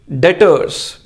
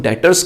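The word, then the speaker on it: debtors: Next one इज डेटर्स। इसमें B word silent है, इसे हम डेटर्स कहते हैं।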